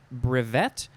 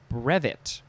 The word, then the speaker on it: brevet: Next is, you can emphasize either syllable. It is brevet or brevet.